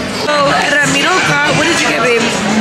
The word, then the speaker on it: Ramiro: Another thing JJ always says is, how do you say Ramiro's name? Ramiro. He says it with an L. Ramiro. Like he's always, since he's met him, calls him Ramiro.